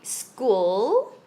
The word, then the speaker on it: school: some spelling together okay like school the h is silence the h is silent you have four but